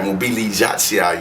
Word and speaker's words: Mobilizacja: Mobilizacja, y'all.